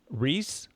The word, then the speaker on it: Reiss: me Mike and Mike Reiss. I realize I didn't ask your last name pronunciation. It is Reiss. It is Reiss, I guess correctly, almost like the peanut butter cups, Reiss peanut butter cups.